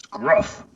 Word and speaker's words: Gruff: game my name is gruff rhymes with tough and buff you are very buff